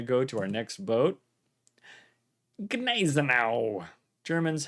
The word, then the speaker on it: Gneisenau: Gneisenau. Germans, how do you pronounce this boat? People say Gneisenau. People say Gneisenau. Yeah. Gneisenau? Yeah. The G is probably like not very loudly pronounced. Just a little bit.